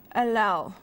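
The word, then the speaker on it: allele: at humans have a single alal or Ali whichever way you want to pronounce it have a single characteristic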